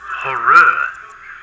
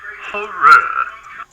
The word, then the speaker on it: Horrere: Talking University, and apparently the correct way to say the name of this comic is... It's pronounced Horrere. Horrere. So there you go. That's how you say it.